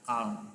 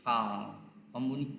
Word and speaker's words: calm: Contoh kedua ada calm menjadi calm. Kombinasi al diikuti dengan M seringkali menghasilkan bunyi A panjang.